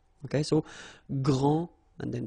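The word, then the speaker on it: grande: final s okay so gr and then say same thing here and regarding the feminine form you will pronounce it Grand okay don't insist on the final but then pronounce this D Grand and then exactly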